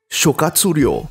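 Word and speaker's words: 諸葛亮: Perhaps because Zhuge Liang, when pronounced in Japanese, Shokatsuryo, was just too long and unwieldy to use in normal conversation.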